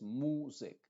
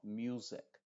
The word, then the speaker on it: music: sonido ch Future Future luego music music no es music sino music que es el sonido original número uno de la u y la u también